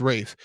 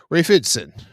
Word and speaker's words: Ralph Ineson: I believe it's pronounced Rafe. Rafe Ineson or Ralph Ineson. He will be playing. He's British, so it's probably Rafe.